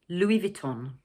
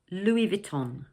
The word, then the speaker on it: Louis Vuitton: In English we pronounce it 'Louis Vuitton'. So, like in French the final 's' in the first word is silent.